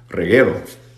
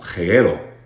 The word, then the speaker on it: reguero: Yo aprendí esa palabra como jeguero. Jeguero. Porque esa persona con la que estaba estudiando no podía o no quería pronunciar doble R, entonces, o ese rrr, entonces decía jeguero.